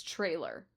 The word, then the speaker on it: Traylor: Her name is Traylor Howard, and it is Traylor, not Taylor.